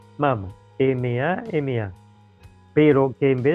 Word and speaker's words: Mama: nombre de los Mama, mamá sin acento en la A, Mama, M-A-M-A, pero que en